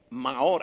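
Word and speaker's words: מאור: Y una de esas palabras es la palabra Maor. Maor, así se pronuncia.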